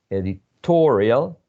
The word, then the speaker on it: editorial: we place the stress in the case of editorial editorial right before the suffix we place the stress editorial and that happens with